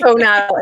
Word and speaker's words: Hohenadel: Tara Wood and Lisa Hohenadel. Lisa, I'm so sorry. I should have asked you before we started. Did I say your last name correctly? It's Hohenadel. It's okay. You said it the way it's spelled.